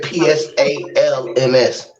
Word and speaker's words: psalms: right right now yeah p-s-a-l-m-s psg again why do they sell psalms and they silence the p silent p all right well here